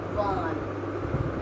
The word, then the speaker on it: one: O is pronounced as one.